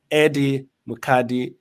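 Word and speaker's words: Eddie Mukadi: married to your king uh my my friend Eddie madii right did I pronounce that correctly yes you did yes yes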